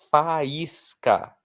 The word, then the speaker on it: faísca: O i está sozinho na sílaba seguido de s, que é a mesma coisa que nada. E ele é a parte mais forte da palavra faísca.